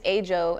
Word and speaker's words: AJO: Yeah, my name is AJO, and that's spelled A-J-O.